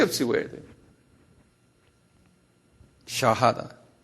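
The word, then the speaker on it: shahada: 샤하다. 그래. 이거 우리 다 알아들 필요 있어요. 한번 발음해 보실래요?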